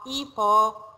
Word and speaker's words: hippo: No, hippo. We pronounce hippo. H is silent. H always in our French language, it is silent, okay?